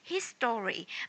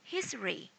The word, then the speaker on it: history: But if you often listen to the foreigners, you will know that they do not say history, but they say history, history, just two syllable, history, history.